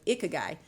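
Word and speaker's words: ikigai: reinvent myself I discovered the Japanese philosophy of iky and please forgive me if I am pronouncing it wrong it's spelled i k i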